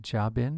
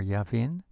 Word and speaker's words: Jabin: She instructs him to assemble troops at Mount Tabor, and he is going to engage enemy forces who belong to King Jabin or Yavin, led by the king's general, Sisera.